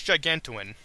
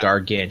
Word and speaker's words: gargantuan: That's Gigantuan. Gargantuan? Yes, Gigantuan. I can't pronounce that word. It's Gargantuan? Yeah. Gargantuan.